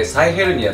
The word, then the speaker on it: 臍ヘルニア: ね僕らはヘソヘルニアって書いて臍ヘルニアって読みますけれどで嘘が